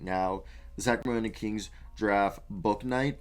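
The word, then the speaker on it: Bouknight: the sacramento kings giraffe book night i just found out that's how you say it's not bow night james book knight from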